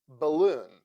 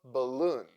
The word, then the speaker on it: balloon: a a a alarm balloon the first syllable in this word is also unstressed and that is why a sounds like o a a a balloon e as sound like